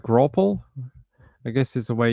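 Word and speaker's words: graupel: So imagine apple, but with a GR in front of it. Grapple? Wait, no, that's not how you spell it. Yeah. Sort of like grapple, I guess is the way you would pronounce it.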